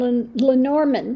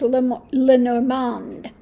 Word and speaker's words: Lenormand: how we got lenorman I always call them L lenorman but I guess in French it's l lorand so I have to re reshift things get myself to um say it in the right way Len so anyway enjoying